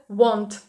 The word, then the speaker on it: want: Won't читається, а хотіти – це want. Want.